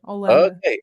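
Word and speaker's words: Holanda: From Hollanda has an H still. We don't read it, but it's there. Hollanda.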